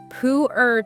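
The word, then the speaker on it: Pu-erh: And then maybe one people are less familiar with, pooer tea. Pooer. How do you spell that?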